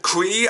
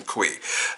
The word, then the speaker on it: Cui: I gotta say Kristen Cui, I think that's how you pronounce her last name. It's spelled C-U-I, so I pronounce it Cui.